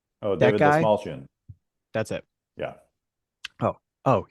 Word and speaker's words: Dastmalchian: I said the actor's name wrong earlier today. I gave him the wrong first name. David Destalamankian. Oh, That David guy. Dastmalchian.